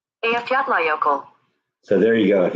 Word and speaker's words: Eyjafjallajökull: Okay, so here's just a Google saying how you pronounce it. Eyjafjallajökull. Eyjafjallajökull. Eyjafjallajökull.